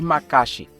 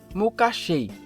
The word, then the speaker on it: Makashi: com sabre de luz foi denominada de macaxe mas apesar de muito chamá-la assim a pronúncia correta é mucachei foi um estilo de